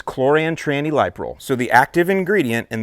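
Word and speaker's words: chlorantraniliprole: liquid concentrate version and the way that I pronounce it is choran Tran liol so the active ingredient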